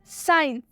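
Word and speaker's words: science: जैसे कि आप एग्जाम्पल में देख सकते हैं, साइंस, साइंस में एस के बाद से सी आया हुआ है, इसलिए साइंस में सी साइलेंट होगा।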